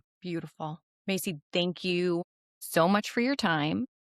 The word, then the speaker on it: Masi: Um, I'm on LinkedIn as Macy and it's spelled M A Si.